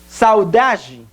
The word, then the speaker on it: saudade: Muito bem, na sílaba tônica é da. Porque é a sílaba onde mais fazemos uma maior inflexão da voz. Ou seja, onde aplicamos mais força.